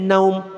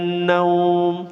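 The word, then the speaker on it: نوم: Jadi kalau cara membaca yang benar sebenarnya naumnya panjang.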